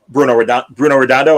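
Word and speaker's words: Bruno Redondo: We mentioned earlier that uh um Bruno Roondo.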